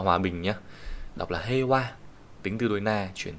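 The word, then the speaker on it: 平和: Đọc là heiwa, tính từ đuôi na chuyển thành cộng với động từ phía sau thì chuyển na thành ni.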